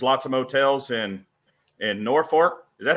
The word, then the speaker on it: Norfolk: out so there's lots of motels in in Norfolk is that how you guys pronounce Norfolk there in Wisner too Norfolk yep you're doing